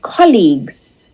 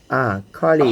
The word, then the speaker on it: colleague: Okay, and then the second word, if you look at it on its own, it's pronounced as league. It ends with the G sound.